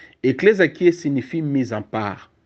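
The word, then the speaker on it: ἐκκλησία: c'est un mot c'est un mot grec qui est prononcé eclésia avec e double k e double k dou l e s i aclésia eclésia qui signifie mise en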